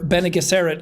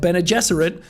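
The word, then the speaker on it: Bene Gesserit: the bene jesuit are such a massive or benegasarit as i was calling them in the book but ben and jesserit as they're actually pronounced which is another thing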